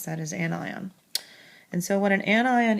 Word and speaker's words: anion: is an anion and that is how you pronounce that is an eye on and so when an anion is is a